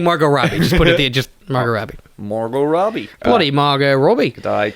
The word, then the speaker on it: Margot: Bloody Margot Robbie. Her name was Margot, but we forgot to pronounce the T because we're very casual down here, mate.